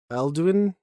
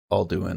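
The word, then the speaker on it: Alduin: Epic Quest to defeat aluin alun I don't know the world eater it's it's pronounced all do in okay thank you uh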